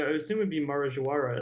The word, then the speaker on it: Marajoara: but is it the Jawara or Marajoara? It would be probably. I assume it would be Marajoara, as they're in Brazil, and they pronounce the J like je.